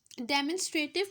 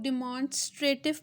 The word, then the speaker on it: demonstrative: So, डेमोन्स्ट्रेटिव pronoun, डेमोन्स्ट्रेटिव इसको कैसे पढ़ते हैं? इसको कुछ लोग डिमॉन्स्ट्रेटिव भी पढ़ते हैं, वो भी ठीक है। इसको डेमोन्स्ट्रेटिव भी पढ़ा जाता है। Both the pronunciations are correct, ठीक है।